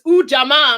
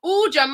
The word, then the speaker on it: Ujamaa: used to hear a dance teacher say it's Ujamaa. I'm like, okay, I got it. I got it. So Ujamaa, I'm going to read the definition again for our panel and our audience. Ujamaa, to build and maintain our own stores, shops,